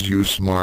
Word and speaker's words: UWSMA: Ryouga brought them all down, in the name of the unorthodox weaponry school of martial arts or UWSMA, pronounced as USMA.